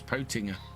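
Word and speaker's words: Pöttinger: doing the FSL that it was Potinger, but I think everybody in the UK calls it Pottinger. Maybe that's just how the Germans pronounce it.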